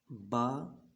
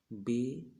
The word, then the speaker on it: با: کہ اردو تلفظ میں۔ جیسے پڑھتے ہیں بے، تے، فے، ہے، خوئے، توئے، زوئے، اس طرح ہم نے نہیں پڑھنا، بلکہ ہم نے پڑھنا ہے با، تا، ثا، حا، خو، طا، ظو پڑھیں۔ حروف مفردات میں